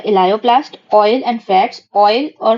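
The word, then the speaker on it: elaioplast: Then हमारे पास आता है इलायोप्लास्ट, ऑयल and fats, oil और फैट्स। तो ऑयल जो हमारे पास आता है उसका प्रोनाउंसिएशन इलायो जैसा होता है, तो इसलिए इलायोप्लास्ट।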